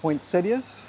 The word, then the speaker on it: poinsettias: And I do pronounce it poinsettias. I believe that's the proper way. I know as a kid watch and Johnny Carson they would debate how to pronounce it. I think Johnny was Quincetius.